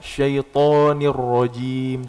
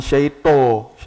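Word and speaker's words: الشيطان: Terangkat ya, syaitanir rajim, tebal dia hurufnya. Syaita, bukan syaito, syaita.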